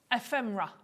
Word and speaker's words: Ephemera: Jill in Yorkshire said, hi guys, it's pronounced ephemera.